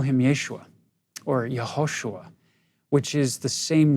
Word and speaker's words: Yehoshua: The Aramaic name, you can put either a Y or a J because they're both pronounced with the Y sound. The long form, Yehoshua, or the short form,